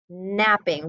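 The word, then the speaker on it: knapping: word stop right there the word is k-n-a-p-p but guess what in that word we don't say the k so it's napping we only say the n that's something different isn't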